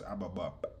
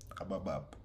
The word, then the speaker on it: Ababab: جيب فلوس على راسك وما زبالة حكمونا بالطبعة قص امك والصبعة دنيا هاي مسحبة روحي اللي لمضبعة No, it's Ababab. Ababab.